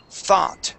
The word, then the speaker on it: thought: the word thought now we're going to pronounce that th sound which is an unvoiced th instead of uh s it is thought try that thought thought